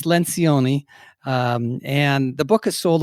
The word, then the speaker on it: Lencioni: you say it it's coa actually if you pronounced it in italian would be lynch oniy but it's Lencioni and the book has sold over three million